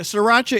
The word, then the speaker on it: sriracha: Yeah, sriracha is spelled not the way that you would expect it. SR, yeah. Yeah, it's Sriracha.